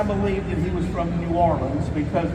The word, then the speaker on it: New Orleans: that he was from New Orleans because people from New Orleans pronounce it norleans so I said circus